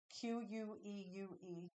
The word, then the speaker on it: queue: Queue.